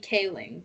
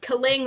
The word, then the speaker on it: Kaling: next person on our honorable mention list mindy kaling which i pronounced kaling earlier you really had to call yourself out